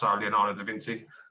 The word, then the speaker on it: Leonardo da Vinci: Like, at the moment, more recently, I'm thinking about other artists that actually lived in the past, like Picasso, Leonardo da Vinci.